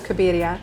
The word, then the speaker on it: Cabiria: It's after a Fellini movie from 1957 called Knights of Cabiria. Oh. But you can do the American pronunciation, which is Cabiria.